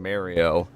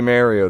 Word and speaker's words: Mayo: Say my name, Mayo. That's how it's pronounced, motherfucker. It will always be Mario to me.